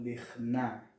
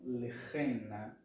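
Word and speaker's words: לכנה: E não lechna. Por quê? Porque o sinal tônico da palavra, ele está lá na primeira sílaba. Lech. Okay? Lechna e não lechena. Certo? Por que não lechena?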